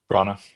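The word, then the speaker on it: Branagh: Bronna Bronna when you when you look at his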